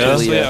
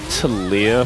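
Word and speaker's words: Taliyah: Talia. Okay, so Talia and Neela, they kind of rhyme. It's like a slant rhyme, sort of.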